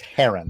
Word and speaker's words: heron: It's Heron.